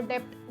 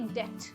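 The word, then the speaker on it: debt: बहुत सारे commerce students हैं मेरे जो डेप्ट बोलते हैं. डेप्ट नहीं होता है, इसमें बी जो है वो साइलेंट है. Okay, B is silent. It is simply डेट.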